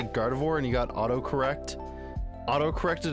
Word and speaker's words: Gardevoir: And Spy Mouse, I'm sorry to tell you the Gardevoirs are not here, and that's also not how you spell Gardevoir.